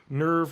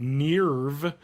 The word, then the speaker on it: NERV: will say one thing the original dub does is pronounce the company name nerve correctly because the new dub they're people pronouncing it nve and other people are pronouncing it nerve so it's another thing